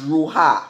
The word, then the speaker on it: ruah: And if you go and you look it up in Hebrew, spirit is pronounced ruah, ruah. That's R-U-A-H. Amen?